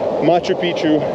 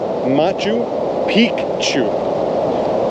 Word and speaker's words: Machu Picchu: Machu picu the ah I got to correct this it's Machu piku there's an there's an emphasis on the first C because apparently they said the guide said that Pichu means old penis so you have to say piku Machu piku and all the tourists say that wrong we all say it wrong in the north uh